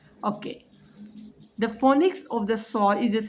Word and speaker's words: ص: But Seen is a light letter and Sod is a heavy letter. Sod is a heavy letter. It is pronounced with more emphasis, but Seen is pronounced lightly.